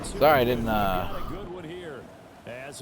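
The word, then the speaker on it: Geaux: Because I was thinking, there's no way this dude just said G-E-A-U-X. You know, Broncos. That's such a wild thing to say. Go Broncos, spelled like that.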